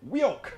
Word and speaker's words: WEOC: Michael Rodden says, WOC, I pronounce it Wioke.